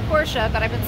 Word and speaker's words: Porsche: the car the porsche yes i know it's pronounced porsche but i've been saying poor since i was eight years old and i'm